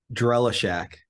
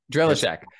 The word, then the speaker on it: Drellishak: and your last name help me pronounce it I should ask it before drella Shack drella Shack drellichak and I we've met and spoken before